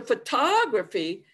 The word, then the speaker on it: photography: the previous slide but if we go to photography then i start off with the schwa i go to a strong stress major stress jumping